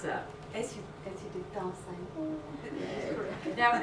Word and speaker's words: Dasein: How do you pronounce that? As you did Dasein.